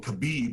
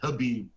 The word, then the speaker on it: Khabib: There's fighters like Johnny Bones Jones, Conor McGregor, uh was it I keep saying Kabib, but it's actually Khabib Menov.